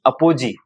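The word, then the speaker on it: apogee: और ये हो जाएगा अपोजी। लिखो अपोजी का स्पेलिंग, APO अपो GEE, पेरिजी अपोजी।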